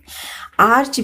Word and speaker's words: archangel: Arch before a vowel is pronounced arc, as in archives, archangel, except in arch, archer, archery, archery.